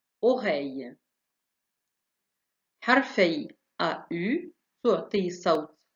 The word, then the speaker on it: oreille: حرفي EI تعطي صوت A كما في oreille.